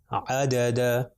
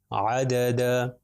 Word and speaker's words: عدد: پاس ہے عین، دال اور دال، د د، عدد، عدد۔ پھر طا، لام اور عین، طا کے اوپر